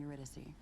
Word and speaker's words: Eurydice: I'm Eurydice.